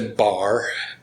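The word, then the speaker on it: barre: where we get to bar a finger across b-a-r-r-e is how it's spelled meaning one finger is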